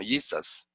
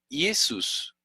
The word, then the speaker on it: Jesús: Jesús, fíjense que en inglés dicen más o menos como Jesus, ¿ok? Jesús, así lo pronunciaban los griegos.